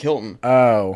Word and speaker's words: Hylton: I don't go Hylton like the hotel, but it's with a Y.